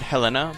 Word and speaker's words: Helena: Which, by the way, I always pronounce it Helena, but I'm pretty sure it's pronounced Helena. Like, accent over the first E.